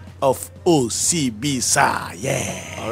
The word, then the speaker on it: Osibisa: it OCB sa well that's that's the Rhythm you know but if you want to pronounce it it's okay welcome welcome